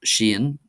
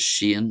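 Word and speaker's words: Seán: So first of all we have Shane which is John and Gillik you'll most if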